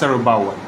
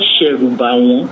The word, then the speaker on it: Sherubawan: an Elephant, and that's Serubawa. No, it's called Sherubawan. Okay, Sherubawan. You must learn to pronounce it properly.